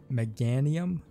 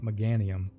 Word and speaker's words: Meganium: doubt about it that megan mcganium i think i've been saying it wrong meganium was an illuminate pokemon